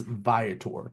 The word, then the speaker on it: Viator: And again, it's Viotor, which know it means traveler in Latin.